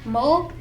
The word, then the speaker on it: mole: Another awesome national dish is called mole, pronounced mole.